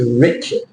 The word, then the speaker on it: Richard: my nickname but I got so sick of hearing rard rard and your name is Richard Rich Richard Richard no this is why we're coming up to this in a minute the a is not rard we'll get to this